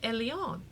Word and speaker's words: Elaine: was from France, and she pronounced it Eliane. So my name is Eliane, but when you write it down, it's Elaine.